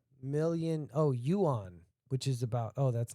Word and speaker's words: yuan: That's yuan, dude. Like Juan, but yuan.